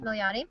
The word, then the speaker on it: Milioti: A to Z stars Ben Feldman and Kristen Milioti. Is that how you say it? Milioti.